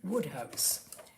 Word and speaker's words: Wodehouse: a short story by PG Woodhouse that is W house pronounced Woodhouse his name was pelum Grenville Woodhouse WOD D house he was the author